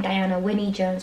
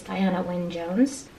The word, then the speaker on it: Diana Wynne Jones: I believe that's how you say her name because somebody else said it in another channel. I've been saying Diana Winnie Jones, but I think it's Diana Wynne Jones.